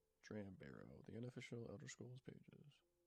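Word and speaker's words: Dram Bero: he is there and i look it up trend barrow no i put it wrong in my notes trend or when hopefully it pops up even though i was playing his name wrong dram barrow the unofficial elder scrolls pages uh highly reclusive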